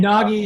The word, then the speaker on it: Nagy: And Nagy is pronounced Nagy in the US and Naj everywhere else.